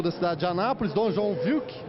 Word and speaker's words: João Wilk: Bom, vamos conversar agora com o bispo da cidade de Anápolis, Dom João Wilk. A pronúncia está correta, bispo? Vamos conversar. Sim, está correta.